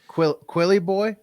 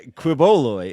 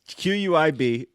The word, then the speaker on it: Quiboloy: Quilly boy. Whenever I see his last name, I always think it says Quilly boy. Yeah, Quiboloy. It's Quiboloy.